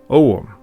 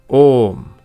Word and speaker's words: Ogham: differences in pronunciation, because what I want to say is Ogham, which is the ancient Gaelic writing system, but my pronunciation is in Scottish Gaelic. An Irish speaker might say something like Ogham, but in Old Gaelic it would have been pronounced Ogham.